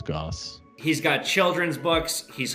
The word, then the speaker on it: Gosse: It looks like goose, but it's Goss.